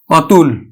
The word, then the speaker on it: অতুল: সংবৃত্ত উচ্চারণ হবে না আদ্য অ এর মতে উচ্চারণ হবে ও এর মত হবে না যেমন আমি লিখলাম অতুল দেখো আদ্য এর পরে